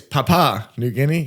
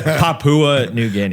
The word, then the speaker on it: Papua New Guinea: it's Papa New Guinea is that how you say it I don't know I've been saying it wrong man I have no idea Papua New Guinea oh okay New Guinea do you really think it's Papa I don't know so